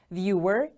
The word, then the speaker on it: viewer: Viewer. The stress is on the first syllable.